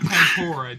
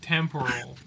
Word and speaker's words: temporal: Not tempora, temporal. Like temporal. It's temporal. I wasn't pronouncing it right.